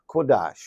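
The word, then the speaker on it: קדוש: he gave us an example of being holy pronounced in Hebrew as quades suggesting that it is the treatment of the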